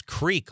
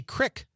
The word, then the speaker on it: creek: says, how we pronounce creek. Oh, that's a great one. How do you say that word? Creek. Me too. But a lot of people in Wisconsin say crick.